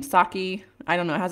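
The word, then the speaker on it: Psaki: Saki, I don't know, it has a P. I think the P is silent.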